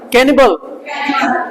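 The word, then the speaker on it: cannibal: आगे अगला टॉपिक है आपका, अगला मतलब कैनिबल, बोलो कैनिबल, कैनिबल ल दोनों आधे, कैनिबल ल नहीं बोलेंगे, बस वहीं छोड़ देना, कैनिबल जी हटानी नहीं, कैनिबल नरभक्षी।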